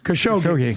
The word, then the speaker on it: Khashoggi: Khashoggi.